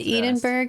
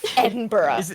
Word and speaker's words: Edinburgh: They're still from London to Edenburg is 7.5 hours. Wow. Edenburg. Whatever, bro. Sorry, I can't let I'm American and I pronounce my letters. Fine. Edinburgh, you bastards.